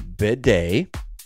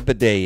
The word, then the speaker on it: bidet: to be talking about the bidet now that is spelled b as in boy i d e t bidet and it's a French word and it is